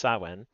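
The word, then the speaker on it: Samhain: Sawin. Approximately pronounced sawen is a ga festival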